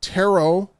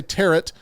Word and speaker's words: Tarot: to be creepy called terot terot I believe I'm pronouncing that right everyone wants to say teret I'm saying ter a horror about what